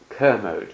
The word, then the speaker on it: Kermode: Well, it's a great honor and pleasure to have a chance to talk to Sir Frank Kamode who Kerode Kermode to get it pronounced.